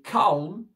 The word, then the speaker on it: calm: Et calm, le L ne se prononce pas ici. Calme, d'accord?